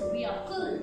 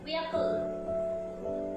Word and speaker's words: vehicle: The correct one is vehicle. What is the correct pronunciation of this word? It is vehicle.